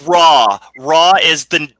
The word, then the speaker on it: Ra: Savage saying and doc it's not raw it's ray ray of Sun no it's raw raw is the how you pronounce the Sun God we're not going to